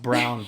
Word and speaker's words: Braun: It's It's spelled Braun, and I hate that it's pronounced Brown, but I love the way this team is built.